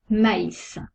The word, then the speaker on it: maïs: par exemple le tréma il sépare de voyelles pour bien prononcez distinctement les deux lettres exemple maïs on prononce le a et le y sent le tréma la